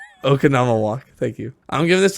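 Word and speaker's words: Oconomowoc: I don't remember how to pronounce it. the city in Wisconsin. Yeah. Okanama. Okanama walk.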